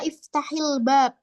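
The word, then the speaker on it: اِفْتَحِ الْبَابَ: ya biasanya Sep ee ketika ada seperti ini Ini dibaca iftahil BAB gitu jadi fi'il Amr di sini sering dia dibacanya kasrah iftahil bab untuk mempermudah pelafalan iftahil bab bukalah pintu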